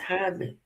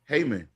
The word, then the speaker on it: Hyman: She said pronounce Hyman. E is silent. See, I was right. It's Hyman. Heyman.